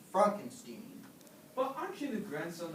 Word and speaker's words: Frankenstein: Frankenstein. That's Frankenstein. I beg your pardon. My name is pronounced Frankenstein.